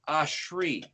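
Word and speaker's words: אשרי: section of aleph is spelled alef sheen reshod pronounced ashri the first word of the second verse starts with an aleph it's also ashri once again then the first word of the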